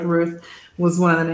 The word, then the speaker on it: Ruth: work in french um well that th is pronounced like a t so ah so the same effect root yeah which just really